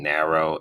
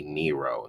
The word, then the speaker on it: Nero: throughout this whole review I kept saying narrow it's actually Nero Nero um so I know